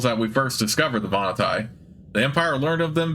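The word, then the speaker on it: Vahnatai: interesting on the vanai people the voni pr pronounced vanai are a very interesting race only recently discovered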